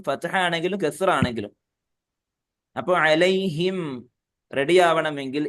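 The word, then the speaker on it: عليهم: വരാൻ സാധ്യതയുണ്ട് എന്താണ് സംഭവിച്ചത് അലൈഹിം അലൈഹിം എന്ന് പറഞ്ഞാൽ മീം ഉച്ചരിച്ചിട്ടേയില്ല അലൈഹി പിന്നെ തരിമൂക്ക് കൊണ്ടാണ് ആ മൂളൽ വന്നിട്ടുള്ളൂ മീം ഉച്ചരിക്കണമെങ്കിൽ മീ മുമ്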